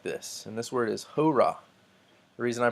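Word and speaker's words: ὥρᾳ: at this point the this does not affect pronunciation so this would not be ho Rai but hora this is the Greek word for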